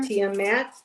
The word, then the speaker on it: Tiamat: Uh, the first card that came out for you, Jax, is um, uh, Tiamat. Am I pronouncing that right, Heather? Tiamat. Tiamat.